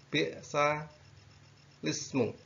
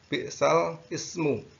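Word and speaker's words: بئس الاسم: Baik, kita lanjutkan yang selanjutnya adalah tentang bi'sa lismu. Jadi membacanya ini tidak bi'sal ismu, tetapi membacanya adalah bi'sa lismu.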